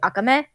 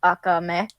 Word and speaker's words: Akame ga Kill: The actual Japanese pronunciation I think would be Akame, because of the fact that like Akame, you put more emphasis on the last syllable.